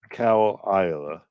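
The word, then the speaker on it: Caol Ila: way c a o no that's I didn't spell that right c a o l i s l a cowl IA ah single malt scotch whiskey yeah oh that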